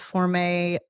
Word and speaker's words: Formé: And then you spell it Forme. So we refer to it Formé Shoe Shapers.